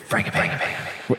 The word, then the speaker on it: Frangipane: Is it G or soft G or large G? It's like G as in Jif. Frangipane.